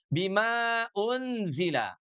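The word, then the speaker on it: بِمَا أُنزِلَ: Madukan di sini fathah ketemu dengan alif ini panjangnya dua harakat. Pada asalnya begitu ya, Sahabat Al-Qur'an ya. Tapi ketika kita wasal bertemu dengan hamzah pada kata unzila, unzila diawali dengan huruf hamzah. Maka mad yang asalnya dua harakat sekarang harus dipanjangkan menjadi empat harakat.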